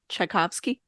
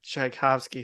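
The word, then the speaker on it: Tchaikovsky: his name sh sh shabos that's not right shovsky chaikovsky thank you yeah it was in there it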